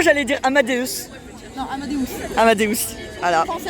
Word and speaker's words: Amadeus: Ça se prononce bien comme ça. Sinon, j'allais dire Amadeus. Non, Amadeus. Amadeus.